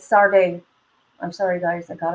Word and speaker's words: Sade: me goosebumps okay um I said her name wrong I'm sorry it's sard I'm sorry guys I